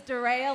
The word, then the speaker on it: Darea: My name is Darea, like Darea's Sunshine. Darea's Sunshine, that is how you remember Darea.